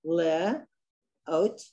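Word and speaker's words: לאות: The oat. Aleph is silent. Le. Oat.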